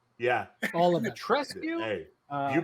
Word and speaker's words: Dimitrescu: Dimitrescu. Dimitrescu. You gotta pronounce all the letters. Yeah, All of it. Dimitrescu.